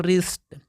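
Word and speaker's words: wrist: आर आ जाए तो वहां पर यह डब्लू साइलेंट हो जाएगा जैसे कि इसको पढ़ते दोस्तों रिस्ट और रिस्ट का मतलब होता है कलाई इसको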